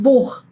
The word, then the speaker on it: Buch: Ehm, buch, buch, ¿ven que es mucho más seco y ese sí es mucho más cerca de la garganta, es casi como una j, así como Buj. No es tanto como ish, buj.